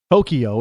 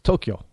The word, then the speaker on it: Tokyo: I don't know how to pronounce all the cities around the Tokyo. It's Tokyo. No E in between the K and the Y. It's not Tokyo.